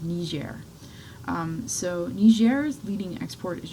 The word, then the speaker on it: Niger: Okay, so the Niger River is pronounced Niger, but the country itself is actually pronounced Niger.